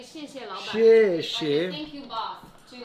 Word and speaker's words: 谢谢老板: You should say 谢谢老板.